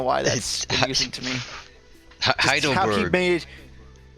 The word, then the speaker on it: Heidelberg: Heideruberugu. I don't know why that's confusing to me. Heidelberg. Well, each of those letters is basically a syllable, and how he just thoroughly pronounces each one is just charming to me.